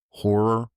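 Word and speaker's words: HO99O9: There's one uh horror is the name of the band, but it's spelled HO9909.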